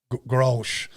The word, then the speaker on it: Grolsch: Do you know how to pronounce that? Okay, Grolsch.